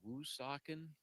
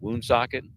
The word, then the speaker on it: Woonsocket: Looks like it Oh. actually is pronounced. Oh, Michael. Kind of like it sounds.